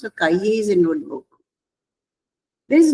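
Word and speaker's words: cahier: C and A will be Ka and I will be E and E is as A and last letter is not pronounced. So Kaiye is a notebook.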